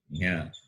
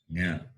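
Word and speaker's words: ञ: Therefore, the fifth letter will be palate plus nose. Palatal plus nasal. Therefore, it is pronounced as Nya. Nya.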